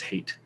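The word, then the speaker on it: Haidt: but jonathan hate um i think that's how you pronounce his last name h-a-i-d-t it's not had it i think it's hate anyway he wrote a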